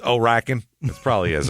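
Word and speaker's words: Horicon: with two counts it's Horan Wisconsin by the way herrien Wisconsin h o r i c o n oh you don't pronounce the h it's just oen it's Oaken it probably is it's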